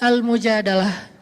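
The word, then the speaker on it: المجادلة: Jadi tergantung kita bacanya dilah atau dalah. Kalau kita baca Mujadilah, berarti perempuan yang lagi curhat. Kalau kita baca Al-Mujadalah, berarti curhat itu sendiri.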